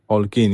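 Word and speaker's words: Holguín: Maria, is it Hollein? I don't know how to say her surname, but Holkeen. Holguin, yeah, that's it.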